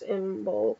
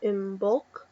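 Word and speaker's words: Imbolc: your choice um uh pronounced in bul or inul also called candle Moss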